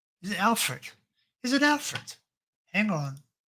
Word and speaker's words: Alfred: watching this back later I've been calling it Albert so that maybe that's what maybe that's why it's heading this way it's angry everyone's getting this name wrong so it's Alfred all right we'll have